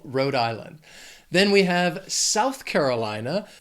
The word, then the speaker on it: South Carolina: Then we have South Carolina. These words together have 5 syllables, but the stress is going to be on that second word, that Carolina, that third syllable.